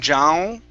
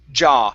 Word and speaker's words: jaw: john okay you're you're you're pushing your tongue to the back of your mouth saying zhao okay instead of zhao it's jaw lay it flat against